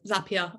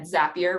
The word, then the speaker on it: Zapier: myself in my head zappier rhymes with happier and that's how I remember it that's a nice way